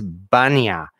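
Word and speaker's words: Bania: which at first were generally referred to as banya b-a-n-i-a and so if you pronounce it especially like with an accent that would eventually change it into bunny and so we're just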